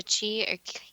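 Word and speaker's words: qi: Quote, "Ki or Chi, pronounced Chi, is the energy flow created along the pathways that connect the acupuncture points on the body.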